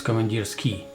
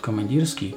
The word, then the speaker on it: Komandirskie: characters in English it's ie it's it is pronounced its commandeers key although in Russian you know word it's pronounced commandeers key here not command us key but come on dear skier that's the only